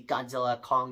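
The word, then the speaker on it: Godzilla x Kong: Well, it's either X-Kong, but apparently the X is silent, so it'd be Godzilla, Kong, the New Empire.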